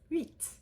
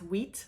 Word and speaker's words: huit: We are often taught in English to think of this as wheat, like what you make flour from, which isn't that far off base. It's not a terrible pronunciation by any means, but it's not quite there either. So I want you to think of that monkey sound and mixed with ew, and then you have u, and then eat at the end, eat, eat.